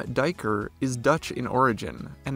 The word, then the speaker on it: duiker: common name from its secretive nature the name diker is Dutch in origin and is derived from the word meaning diver so while it might look like dweeker it's actually pronounced diker we remember this by remembering their excellent divers